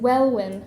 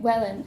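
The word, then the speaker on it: Welwyn: as we passed and pronouncing well win as it is spelled instead of calling it Wellen in the improved fashion the Rooks Nest might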